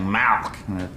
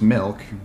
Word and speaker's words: milk: just want some milk now you're saying it wrong you're saying malk like it's a disease how do you say it i'm saying it the way everyone ought to say it milk m-i-l-k right like two percent